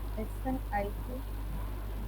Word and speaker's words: SNP: Yes, how do you pronounce it? SNIP, Snip. Okay, snip. SNP. Okay, yes. Pronounce it as snip.